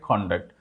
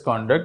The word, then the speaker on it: conduct: one I said conduct and other I said conduct so when it is a noun we pronounce it as conduct when it is a verb we pronounce it